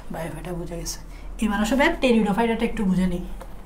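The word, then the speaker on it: Pteridophyta: আচ্ছা, ব্রায়োফাইটা বুঝে গেছে, এবার আসবে টেরিডোফাইটাটা একটু বুঝে নিই। টেরিডোফাইটা, ফাইটা মানে উদ্ভিদ, টেরিডো মানে হচ্ছে একটা উদ্ভিদ আছে যেটা নাম হচ্ছে টেরিস। এখানে পিটা উচ্চারণ হয় না, তাই এখানে আমরা টেরিডো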